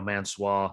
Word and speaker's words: Mansoor: Mansoor is now Mansoir.